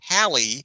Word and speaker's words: Halley: for English astronomer Edmund Halley whose name rhymes with Valley Halley's Comet is the